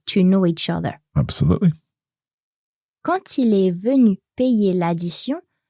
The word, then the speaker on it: quand: First of all, quand il est venu payer l'addition. So when we have quand followed by a vowel, the D on the end is pronounced, but it's pronounced as a T.